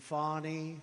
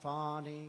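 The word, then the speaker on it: Fani: attorney generals and fonnie fonnie you know fonnie spelled f a n i my name is fonnie f a and I I don't figure it she put a little French accent on the word with her lover Wade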